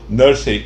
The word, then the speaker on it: nursery: Esses meninos ocupavam a mesma nursery numa linda casa de Londres. Nursery? Repetiu Pedrinho. Que vem a ser isso? Nursery pronuncia-se nursery, quer dizer em inglês quarto de crianças.